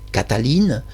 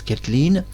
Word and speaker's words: Kathalin: de savoir si Katheline eux l'appellent Cataline moi je prononce Katheline si elle a été